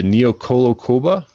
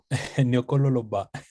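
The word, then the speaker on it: Niokolo-Koba: I did run a few spots in the, it's pronounced the Neokolokoba. Is that correct, Ken? Nyokololoba. It's a very, it's a Senegalese name.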